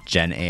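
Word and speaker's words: Gennai: in charge of responsible geni at Google her name is Jen geni geni but it's spelled gen AI is she an AI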